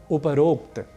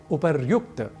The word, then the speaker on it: उपर्युक्त: ठीक इसी तरीके से एक और शब्द है उपरोक्त, जो कि गलत है, हमें कहना चाहिए उपर्युक्त। ऊपर शब्द है, ऊपरी वस्तुतः मूल शब्द है और उसके बाद हम एक प्रयोग करते हैं उक्त का। तो जब दोनों शब्द मिलेंगे, संधि होगी, तो शब्द बनेगा उपर्युक्त, न कि उपरोक्त।